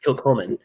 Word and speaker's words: Kilchoman: I don't think I've had anything from how do you pronounce it? Kilchoman? Kilchoman. I want to say Kilchoman.